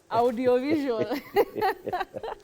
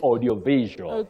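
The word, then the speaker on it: audiovisual: audio audio no bet have you ever heard of audio audio visual audio visual no you say Audi visual Audi visual Uncle catch at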